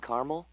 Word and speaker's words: caramel: The caramel, please. The what? I'd like it in caramel. Oh, the caramel? Yeah, that's what I said, Tina. Actually, you said caramel when it's pronounced caramel.